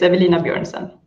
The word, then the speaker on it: Evelina Björnsson: I don't want to risk saying your last name wrong, so I just chose to say your first name, Absolutely no problem. It's Evelina Björnsson.